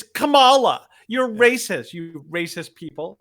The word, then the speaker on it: Kamala: It's not Kamala, it's Kamala.